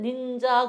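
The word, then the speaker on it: ninja: 그다음에 여기서 A를 에라고 안 읽고 아라고 읽어요. 요것도 얘가 A가 아 소리 나는 것도 우리가 단어 모아서 다시 연습할 거예요. 일단 A가 아 소리 날 때도 있다. 이렇게만 알고 가세요. 그 닌자인데 그 사람들은 닌자 그러지를 않고 발음이 어떻게 들리냐면은 닌 이렇게 들려요. 닌자 이렇게 발음이 그래요.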